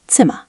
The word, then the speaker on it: Zimmer: Now final R is the tricky one. In many standard accents, air at the end sounds like a relaxed vowel. Example, Zimmer, room.